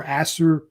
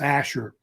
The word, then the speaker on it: Ashur: And they get their name from a city-state that they developed called Ashur or Assur. It's usually pronounced Ashur, how they say it.